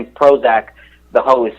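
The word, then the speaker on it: Prohoezak: the thing so pro his name is actually Prozac but it's spelled PR o h OE za k and then he says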